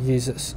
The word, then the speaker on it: Jesus: So in German, the J is actually a Y. So Jesus, okay, in German, this is how you pronounce it, Jesus. Well, maybe not an identical pronunciation, but I'm trying. So you have, like, the Y, and it's a Y sound.